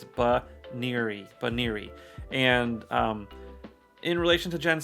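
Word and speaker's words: Banette: So the pronunciation today is Baneri, and I don't know why I've been pronouncing it like Bunieri or something like that. I haven't been pronouncing it perfectly accurate, but it's Baneri.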